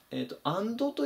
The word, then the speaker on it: and: いう単語ですねまあよくアンドってどっちよく読んでしまうんですけどこれは極端な話言うとほとんど聞こえないぐらいの発音ですねほにゃららとてんてんてん